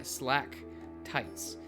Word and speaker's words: stalactites: stalek stalact tights stalactic yeah slack tights that is how it's pronounced I do remember I'll